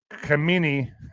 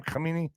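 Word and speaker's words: Khamenei: well aware of where Kamini is that how you say his name Kamini how do you say his name Alex yeah that's pretty much it yeah all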